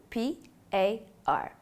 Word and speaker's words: PAR: we refer to by the acronym p a r pronounced par this will include the